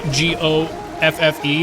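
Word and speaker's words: Goffe: Hello, Randy, G-O-F-F-E, which I think is pronounced Goff.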